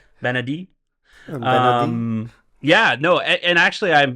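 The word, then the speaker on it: Bennedict: Benedict. Benedict. Don't pronounce the T. Benedict.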